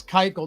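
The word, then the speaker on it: Keuchel: Sai Young fish live I have so been pronouncing that like a exercise kele yeah it's Dallas Kel run the bases.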